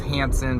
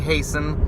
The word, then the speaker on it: Hasen: I know a lot of guys mispronounce my name. It's okay, you're in good company. I'd say most people mispronounce my name, say it's Hansen, but it's actually Hasen.